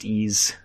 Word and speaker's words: Ys: possibly than that yeah it's just the letter Y the letter s it's pronounced T's oh right stupidest name